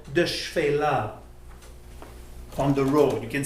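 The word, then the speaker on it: Shephela: in Israel, you see an expression called the Shfela on the road. You can see that today. How do we spell that properly?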